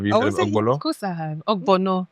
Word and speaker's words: Ogbono: Ogbono, not lo. Oh, wait. Is it Ogbono soup?